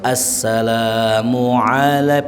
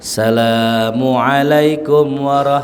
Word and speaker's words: Assalamualaikum: Hurufnya kudu bener, pengucapannya juga kudu bener. Ya, harus assalamualaikum pakai ain. Assalamualaikum warahmatullah. Dan juga asnya bertasydid. Jangan assalamualaikum itu nggak sempurna.